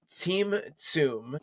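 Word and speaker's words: tzimtzum: It's called simsum.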